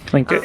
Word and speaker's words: Tlingit: Tlingit, yep.